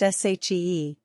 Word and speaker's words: sidhe: It is important to understand what the word sidhe means, because it holds within itself the entire cosmology that makes the banshee possible. The sidhe, pronounced shee, were the fairy mounds of Ireland.